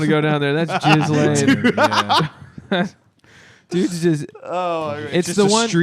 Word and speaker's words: Ghislaine: talking about Ghislaine? I don't think- the lady that I was don't in think It's there's- pronounced Ghislaine.